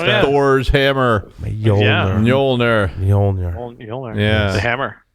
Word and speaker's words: Mjolnir: I don't think I told him yet, but I called it Mjolnir. Oh, is that how you pronounce that? Thor's hammer. Mjolnir.